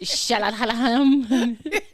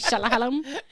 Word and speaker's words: Shyamalan: I like how you just butchered it. Shyamalan. M. Night Shyamalan.